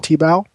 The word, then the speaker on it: Thiago: on the card glycine t-bow or tebow depending on who's pronouncing it but uh all these